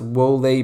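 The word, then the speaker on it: Wolé: since he's played by I think it's pronounced woe Leigh Parks or his first name I think is pronounced will a but he clearly he's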